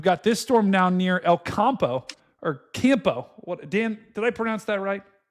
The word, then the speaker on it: El Campo: Further to the south, we've got this storm down near El Campo, or Campo. What, Dan, did I pronounce that right?